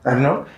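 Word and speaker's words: Murnau: y por eso Eh murn sí se pronuncia murn eh hizo los cambios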